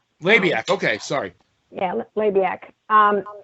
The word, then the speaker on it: Labiak: name is francis jonard is it lobbyiq i'm probably not pronouncing it right right how did he go from that to to to gordon sully uh and it's labiak labiak okay sorry yeah labiak